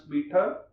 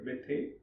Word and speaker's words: Bethe: And luckily for them, one of the most famous physicists in the world, Hans Bethe, I hope you heard the name, or pronounced, sometimes Indians pronounce as Bethe.